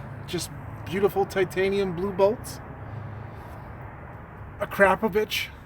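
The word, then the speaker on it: Akrapovič: beautiful titanium blue boats a crap a yes my Slovenian friends told me that is how you pronounce it a crap a we got their exhaust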